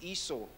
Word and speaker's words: Esau: Remember Esau, yun ang pronunciation, Esau.